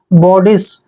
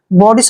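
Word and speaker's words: bodice: Next word देखिए बी ओ डी आई सी ई, बी का उच्चारण हम ब करते हैं, ओ को ओ की मात्रा पढ़ना है, और डी का उच्चारण ड करेंगे, और आई को ई की मात्रा पढ़ते हैं, और सी ई का उच्चारण स करते हैं। जब भी सी के बाद ई आता है तो सी को हमने स पढ़ना होता है।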